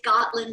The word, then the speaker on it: Gotland: It's Gotland Sheep.